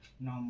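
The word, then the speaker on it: gnome: नियम नंबर 2, जब किसी वर्ड की शुरुआत जी से हो और उसके तुरंत बाद एन आए तो जी का उच्चारण नहीं होता है। जैसे नैस, नैस माने पीसना, नेट माने कुतरना, नॉम माने कहावत।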